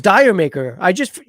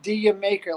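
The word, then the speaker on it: D'yer Mak'er: Dude, I thought it was Dire Maker. When is it? How you pronounce it? I believe it's pronounced Dia Maker, like did No. you make her?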